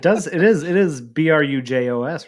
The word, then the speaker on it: Brujos: else but it does it is it is B ruj oos right yes that's yeah 100% but like there's a there's different ways to pronounce like certain things like um it's like